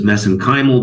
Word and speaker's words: mesenchymal: uh MSC stem cells which I pronounce as mesenchymal because that's how they pronounce it in Ireland I know there's other